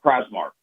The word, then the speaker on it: Prazmark: We're speaking with, and, am I saying you're like Prazmark? Is that the right way to say your name? I apologize. I want to say that right. Yeah, Prazmark. Prazmark. Okay, 21 Marketing, Sports and